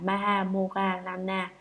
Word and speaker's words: Maha Moggallana: Ngài Maha Mục Kiền Liên, Ấn Độ đọc là Maha Moggallana, chữ Hán là Đại Thái Thúc Thị, là bậc có phép thần thông đệ nhất.